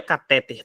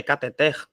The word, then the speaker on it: cateter: oxítona reparem ó cateter a sílaba tônica é a última então a palavra cateter não é cateter tá é cateter então a palavra cateter vai ser oxítona Gibraltar